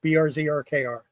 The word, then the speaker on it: BRZRKR: That's the way it's pronounced, BRZRKR.